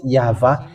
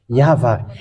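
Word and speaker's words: יהוה: of tat which says that we call it yava and how that's how we read is in heaven of heavens yava and those who call that yava they washed away from their sin and they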